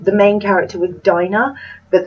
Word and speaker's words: Dinah: I thought her name, the main character, was Dinah, but they actually pronounced it Dina, so I'm assuming that they know and that it's Dina.